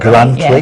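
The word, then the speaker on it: Grantully: Julie, you're quite a hidden gem up in Grantley, is that the right pronunciation? Yes, that's the right Grantley yes.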